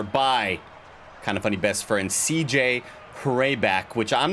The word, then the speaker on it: Hraback: Stopped early right there by KindaFunny best friend CJ Hraback, which I'm not sure how to pronounce his name, Dynamite. It's Hraback or Hraback. It's Hraback. I've never seen a name spelled like that before.